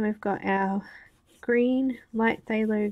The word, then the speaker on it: phthalo: got our green light phthalo green that's a hard word to pronounce or to figure out it's th-th so it's sailing sailing thanks